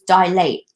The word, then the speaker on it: dilate: isn't if your pupils dilate in your line or they go small no they dial I mean you're lying use it by weight dilate dilate dilate dilate the stress is on die dial it no dilate I